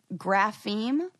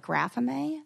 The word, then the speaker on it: grapheme: tiktok that i've been pronouncing it wrong it's grapheme okay and i'm pronouncing it like graphame i think yes that's true grapheme that's another